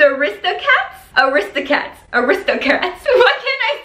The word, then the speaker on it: The Aristocats: it is it's called the aristocrats the wrist the cat wait how do you say this the aristocats aristocats aristocats what can